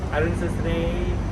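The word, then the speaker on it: អរុណសួស្ដី: Say hi to Cambodia អ រ ុ ន ស ួ ស ្ ដ ី Arun Sosre.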